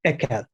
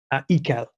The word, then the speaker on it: Ekel: A classic is disgust, and the German word I mispronounce every single day, ekel, ekel.